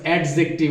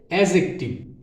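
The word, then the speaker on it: adjective: হবে I'm reading book এরপরে এডজেক্টিভ আবারোডিয়ার viewers এডজেক্টিভ আমরা বলি কিন্তু না এডজেক্টিভ এটার উচ্চারণটা সম্পূর্ণ ভুল আসলে এটার উচ্চারণ হবে এডজেক্টিভ এটা আলোচিত হয়েছে 74 অর্থাৎ 74 পেজে মেকিং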